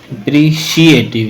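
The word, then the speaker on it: appreciative: he become he become अप्रिशिएटिव ये सी एटिव है लेकिन जब पढ़ेंगे तो शी की बाज देता है ये ठीक है इसको भी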